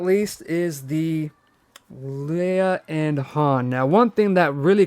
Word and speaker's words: Han: this outfit here for han or filet i know the answer and that's what caused all the controversy i will not spoil it for you but it rhymes with uh flan so the main controversy